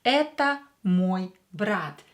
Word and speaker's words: мой брат: Here E is stressed, so O will be pronounced as A. Это мой брат.